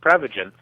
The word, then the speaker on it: Prevagen: Well, technically it's pronounced Prevagen, but what Prevagen is